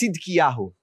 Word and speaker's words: Zedekiah: His name was Zedekiah in Hebrew pronounced sidki.